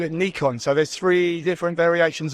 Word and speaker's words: Nikon: ask it every year it depends what part of the world you come from I mean the Americans will call it Nikon most people in Europe call it Nikon um but actually Japanese